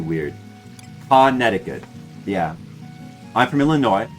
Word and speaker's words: Illinois: Yeah, I'm from Illinois. Sometimes letters don't get pronounced.